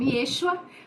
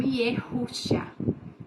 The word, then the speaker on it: Yeshua: E o nome do nosso Salvador, nós conhecemos como Yeshua, mas você também pode pronunciar como Yehusha, tá?